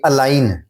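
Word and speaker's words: align: یہ الائن, یہ انگلش زبان میں بھی جو ہے وہ ورڈز کو الفابیٹس کو سائلنٹ کر دیا جاتا ہے. الائن میں ہم جی سائلنٹ ہے, یہ الائن میں.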